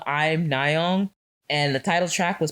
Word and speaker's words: Im Nayeon: the M, it says I'm Nayeon, but it also a play on word of her name, Im Nayeon, if you pronounce it in Korean.